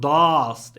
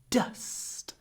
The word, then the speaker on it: dust: say dust in English make sure that your vowel your uh is not too big it's not dast it's dust dust D really short it's clipped before the unvoiced S dust there is so